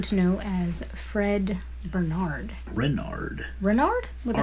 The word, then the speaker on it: Renard: Renard.